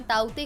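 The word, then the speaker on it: Tauktae: इस तूफान को पहले तौकते के नाम से जाना जा रहा था, लेकिन भारतीय मौसम विभाग के चक्रवात चेतावनी विभाग के अनुसार इसका उच्चारण ताउते है।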